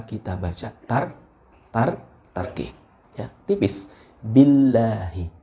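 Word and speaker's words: billāhi: baca Mart Ratih tipis Billahi Billahi Billahi nah bila Hidup bukan biolohi nah ini banyak bukan bukan hanya anda tapi banyak ya ketika kita Ah saya maksudnya menerima setoran itu bacanya ditafsirkan binering the world Nah itu salah tidak seperti itu akan tetapi tergantung pada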